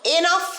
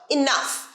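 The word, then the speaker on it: enough: যথেষ্ট হয়েছে আমার সাথে এর উচ্চারণ কিন্তু এ নয় এনাফ নয় ইনাফ এনাফ আরেকবার বল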